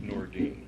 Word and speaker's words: Nordine: It's pronounced Nordine. Nordine, I'm sorry.